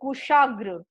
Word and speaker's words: कुशाग्र: फिर कुशाग्र, फिर आपका शब्द है कुशाग्र, आधा क, क पे स्वर है छोटी उ, तालबेश आ, स के साथ आ स्वर है ग्र, ग्र, र का उच्चारण हो रहा है, आधा ग र, र के साथ अ का उच्चारण हो रहा है।